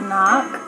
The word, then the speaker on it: knock: the silent letter so like knock you can't hear the cave at the end but